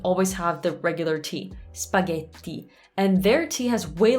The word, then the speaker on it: spaghetti: i can't even say it it's so painful spaghetti bolognese now the reason it says painful don't get offended like i used to pronounce this way it's just that once you